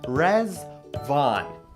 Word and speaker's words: Riḍván: to wish you a happy Festival of resval rezvan is pronounced res Von and in Arabic the word means Paradise the